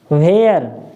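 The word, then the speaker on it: where: वेयर, भेयर, ठीक है।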